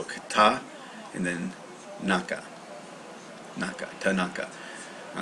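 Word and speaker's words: 田中: the way so Kata and then naka Naka Tanaka all right so let's see uh by the way that's the kunyomi pronunciations you'll get used to that all right Tanaka Tanaka that's it now here it means she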